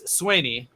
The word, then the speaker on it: Sweaney: So it's Sweaney, more of an A instead of an E.